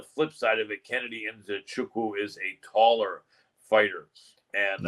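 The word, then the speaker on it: Nzechukwu: He said his last name is pronounced Enzochukwu. So it's Kennedy Enzochukwu. And a lot of people try to think the Z is silent or the N is silent.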